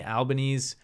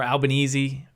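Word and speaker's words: Albanese: includ including prime minister Anthony albanes or albanesi as the Australians pronounce it um and members of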